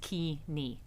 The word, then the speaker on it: Keeney: Sandy is Keeney. Now, do you mind that pronunciation, No, or not is at that the all. proper pronunciation? The proper pronunciation is Key-Nee.